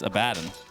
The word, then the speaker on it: Abaddon: I say Abaddon, even though it's incorrect. Right? How do you say that? It's Abaddon.